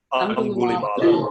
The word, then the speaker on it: Angulimala: I forget how to pronounce it. Angulimala.